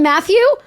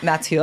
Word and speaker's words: Mathieu: You want me to call him Matthew? It's not. Mathieu.